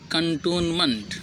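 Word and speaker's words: cantonment: जहाँ कंसेशन होता है, रियायत मिलती है, इसका उच्चारण क्या है? कंटोनमेंट।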